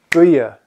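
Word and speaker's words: buí: Buia. It's one beat, one syllable.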